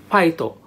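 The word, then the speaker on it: ファイト: Now, Japanese people don't really pronounce F like we do, English speakers. So they pronounce it like fighto, fighto, fighto.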